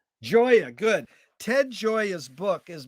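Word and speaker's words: Gioia: but i have that announcement how do you pronounce his last name joya joya good ted joya's book is bringing up this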